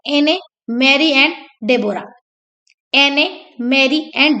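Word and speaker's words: Deborah: थी, एने, Mary and डेबोरा। एने, Mary and डेबोरा, H silent रहता है इसलिए इसको डेबोरा पढ़ते हैं।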